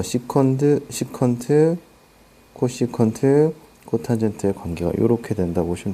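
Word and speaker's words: cosecant: cscot 이렇게 나오는데 CSC는 코시컨트라고 읽어요. CSC라고 읽지 않아요. SAC는 시컨트, COT는 코탄젠트 요렇게 옵니다. 그래서 코시컨트, 시컨트, 코탄젠트라고 읽어요.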